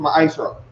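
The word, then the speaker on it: מעשר: Means tenth in the Hebrew and is pronounced ma'ashra.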